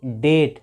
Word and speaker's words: debt: लिखी हुई है कि अगर किसी वर्ड में टी के पहले बी आएगा तो बी वहाँ पे साइलेंट होगा, बी का उच्चारण नहीं करना है। तो इसको हम पढ़ेंगे डेट।